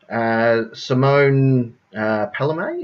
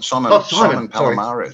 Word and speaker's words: Simon Palomares: Simone Palomé, is that how you pronounce her name? No, Simon. Simon Palomares.